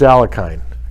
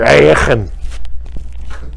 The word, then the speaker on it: Alekhine: That's why he was Alekhine, or Alekhine, the Russian pronunciation.